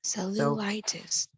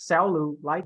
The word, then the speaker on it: cellulitis: so it's so loose see how my first two syllable I'm flat here and then the third one I'm upsell Lou like cellulitis good so cellulite good all right not salute light okay that means like